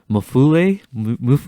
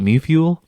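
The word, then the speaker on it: Mewfeuille: It's Mufule. I don't know French, but I always call it Mufuel.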